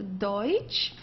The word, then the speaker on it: Deutsch: Okay, don't confuse it with Dutch. This is not Dutch, it's a Deutsch.